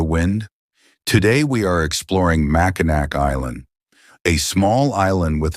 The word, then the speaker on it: Mackinac: The name is spelled Mackinac, yet it is pronounced as Mackinac. This unusual pronunciation comes from a mix of Native American languages and French influence, making the island's name